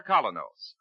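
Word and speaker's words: Kolynos: Ask for Colinos, a high polishing toothpaste. That's spelled K O L Y N O S.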